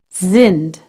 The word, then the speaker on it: sind: pronounce the letter s if s is followed by a vowel you pronounce it like the Z in the word lazy z sinned can you hear it but if it's followed